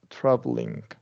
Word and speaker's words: traveling: remember that cabic l so traveling we're only shorten this instead of a bow sound we're just G to go traveling so ju you mean skip e there or you mean you can technically skip to e there there's really should be no bow sound there okay travel traveling like that yeah traveling okay um